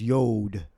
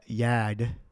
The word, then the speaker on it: yod: see say here yod he says yod but we know there's no uh no o so we would that would be like an uh ah so however you would pronounce that y uh y Yad say Yad all right so